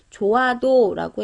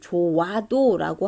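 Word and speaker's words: 좋아도: 그 다음에 조아도 같은 경우는 조아도라고 해서 읽어야지 조와도라고 하면 틀리다라는 얘기예요.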